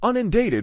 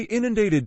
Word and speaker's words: inundated: an old colleague once claimed she was unated with work now I have to say inundated 10 times in my head before out loud because that has ruined